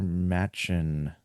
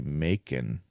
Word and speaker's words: Machen: from an Arthur Machen, and I hope that's how you pronounce it, because I guess it could also be Macon, but that would really mess me up, because I've always thought it was Machen.